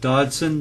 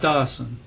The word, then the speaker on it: Dodson: So as I mentioned before, we have Dodson, not Dawson, and we talked about Dawson Way being out in Hatchville.